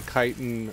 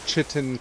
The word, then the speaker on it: chitin: little gap in the chitin armor that he has here or chitin armor depending on whether or not you pronounce that one way or that other way feral lunge feral lunge